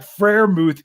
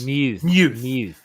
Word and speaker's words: Freiermuth: It's not Muth. It's Muth. Yeah. Like more like the Greek letter.